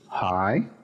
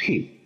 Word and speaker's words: hi: Luego tenemos este otro saludo, hi, no decimos he.